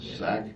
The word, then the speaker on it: Sack: Sack? Yeah. S-A-C-K, right? Yeah, just like it sounds.